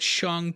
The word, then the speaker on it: Shang: james bundy there's also shong taking part in the fighting tournament and also yeah i know i'm pronouncing it shong but that's actually what kevin feige said recently so stop writing